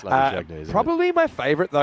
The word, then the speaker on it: Labuschagne: Nems Magazine, a bit like Labuschagne, that's not really how it's said. It's Labuschagne, isn't probably my favourite